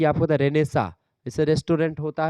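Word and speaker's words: Renaissance: क्या बोलते हैं उसको रेन सेंस होता है जो पुनर्जागरण होता है उसकी अंग्रेजी लेकिन उसको पढ़ते क्या है उसको पढ़ते हैं रेनेसा ठीक है क्योंकि वहां पर चीज साइलेंट होती है ऐसे ही यहां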